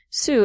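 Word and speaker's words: Sault: I took French and it seemed like that would be the pronunciation, but it's not. Sue.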